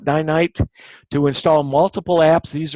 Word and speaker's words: Ninite: But also, if you have not checked Ninite, and I've heard it pronounced different ways, but I call it Ninite, to install multiple apps.